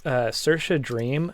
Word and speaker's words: Saoirse Dream: My favorite recently, let me just pop her name in the chat really quick, just so I spell it right. Is Saoirse Dream.